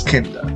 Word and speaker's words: Kinda: story, The Visitation, that I wasn't entirely sure whether this was supposed to be pronounced Kinder or Kinder, but I mean, worse to the story, it's Kinder.